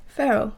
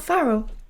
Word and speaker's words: Ferrell: Ferrell. Mm-hmm. Is that his name? I think so. Not Farrell. I'm pretty sure it's spelled with an E. It's just pronunciation, but you know.